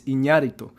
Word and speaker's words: Iñárritu: Fernando Moreno says the Spanish pronunciation is Iñárritu.